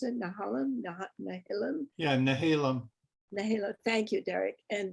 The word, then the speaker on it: Nehalem: Is that how you pronounce it? Nehalem? Nehalem? Yeah, Nehalem.